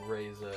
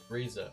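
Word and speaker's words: Ryza: Atelier Reza or whatever. I'm probably mispronouncing the second word too. Yeah, that makes more sense. It's Riza. Thank you. Riza.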